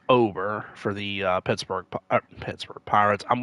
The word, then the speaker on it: Bailey Ober: I think it's pronounced Ober for the Pittsburgh Pirates.